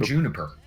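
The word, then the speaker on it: JNPR: hear constantly because they're playing team Juniper. They're playing a broken ass combo team which is spelled like this which you won't hear for about 50 seconds but it's JN PR because because there are no vowels allowed in this game.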